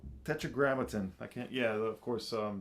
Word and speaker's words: Tetragrammaton: All this is on Tetramation. How do you say the label? Tetragrammaton. Tetragrammaton.